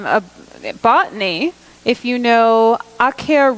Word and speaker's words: Acer: botany if you know akhiya rubrum which most people pronounce Acer rubrum that's the red maple and it's awk hair because it's sharp you